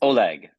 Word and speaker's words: Oleg: so now I know and some people say Oleg or is it Ole it's Oleg okay yes I it's a g kind of like that's how you pronounce it yeah well I can just tell